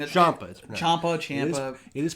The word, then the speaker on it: Champa: Champa. It is pronounced Champa.